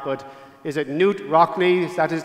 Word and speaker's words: Knute Rockne: I don't know if I'm pronouncing this man's name correctly or not, but is it Knute Rockne? That is how he's pronounced. Knute Rockne, the iconic player and coach of Notre Dame,